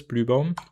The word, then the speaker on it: Blübaum: It's Bluebomb. It's Blue and not Blue. Like in in German it's an u and in internationally you write it as u and then it looks